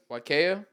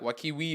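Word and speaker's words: Waiakea: pronounce that water wakaya wakaya very good when people say wakaya Kia yeah I've said like wakiwi or whatever yeah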